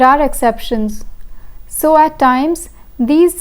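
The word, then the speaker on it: dix: De and these. De and these. The X in de is silent, but the X in these is pronounced.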